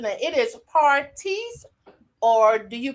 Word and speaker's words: Partice: don't want to miss pronouncing that it is parties or do you pronounce it another way yeah you got it right partise parties that is unique that is unique i